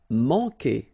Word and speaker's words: manquer: Manquer. Okay, remember when we get this Q, after that automatically we get this U, but then we don't pronounce the U, okay? So manquer.